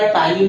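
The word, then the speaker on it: ptyalin: आप बहुत ध्यान से समझिएगा, टाइलिन में पी साइलेंट होता है, ठीक है। तो ये टाइलिन एंजाइम मंड का पाचन हमारी बक्कल कैविटी से ही स्टार्ट कर देता है।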